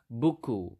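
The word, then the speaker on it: buku: book ISU so obviously book is booku it it sounds quite similar right so again a book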